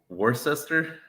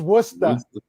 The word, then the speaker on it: Worcester: Worcester. Worcester. Do you know what we say here in Boston? No. It's Worcester. Worcester. Oh yeah, definitely not. Yep, I failed that one. No, Worcester.